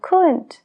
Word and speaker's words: could: W en answer answer la l en should should lo mismo con could y would esas tres palabras son